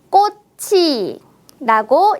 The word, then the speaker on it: 꽃이: 있습니다이 단어는 어떻게 읽을까요 받침에 츠 자음을 뒤로 옮겨 보겠습니다네 맞아요 꽃이라고 읽으면 되겠네요 따라해 보세요 꽃이 예뻐요